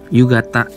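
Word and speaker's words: 夕方: Yugata, misal. Nih, yugata, gitu teman-teman, sama konseki, ya kan? Yugata ini juga dibaca kata ini teman-teman, ini kanji kata, tapi di sini dibacanya gata. Yugata, bukan yugata ya, yugata.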